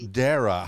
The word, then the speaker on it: Dara: a pleasure Dara hopefully I said that correctly did I pronounce that you did you pronounced it you're actually one of the first people who have pronounced my name perfectly on the first try on the first interview